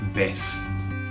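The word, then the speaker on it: vez: And that word is beth. Beth. Okay. Now how you remember that? Well, some people are called Beth.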